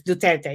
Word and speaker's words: Duterte: get duterte how you see it yeah it's duterte yeah you you follow maria ressa and her